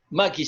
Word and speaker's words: Mackey: John Mackey. Mackie se pronuncia, John Mackie.